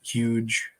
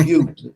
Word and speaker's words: Hugh: It's a name, Hugh, not the huge. Just Hugh.